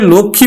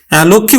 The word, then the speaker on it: লক্ষ্মী: এখানে বিন্দু এলো তাহলে লক্ষ্মী বানানটা কিন্তু লক্ষ্মী উচ্চারণটা কিন্তু হয়ে গেল লক্ষী লক্ষী অর্থাৎ নাশিক ও